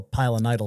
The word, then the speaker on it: pilonidal: It's called a pilonidal cyst.